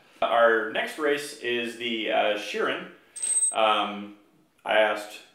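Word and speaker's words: Shirren: latest based Cavaliers our next race is the Sheeran I asked how to pronounce that by sutter ease of its shearing they are a race of atomic insectoid I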